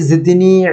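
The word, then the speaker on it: زاي: জ উচ্চারণের নিয়মটি হলো জিহ্বার আগা সামনের উপরের দাঁতের আগায় স্পর্শ করতে হবে।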